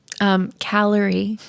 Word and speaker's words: Calorie: Calorie. Rhymes with Mallory.